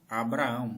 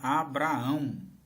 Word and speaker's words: Abraã: A pronúncia é Abraã. Abraã não tem H nem assentos. Quando o nome é passado para as bíblias atuais aqui no Brasil fica Abraão com acento. Que é pior ainda, irmãos.